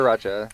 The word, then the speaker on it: sriracha: or Sriracha. It's sriracha. It's always interesting the way people pronounce stuff because a lot of it has to do with like our vowels, right?